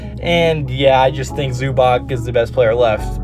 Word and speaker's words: Zubac: I always get his name wrong, but Zubac.